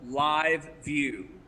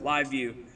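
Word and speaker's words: LiveVue: So now I don't know if it's a software, but a feature that they call Live View, and they spell that IVEVUE, so Live View.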